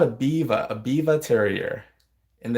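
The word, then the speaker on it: Biewer: She's called a Biva Terrier, and it's spelled Biwer, spelled Beaver, but it's pronounced Biva.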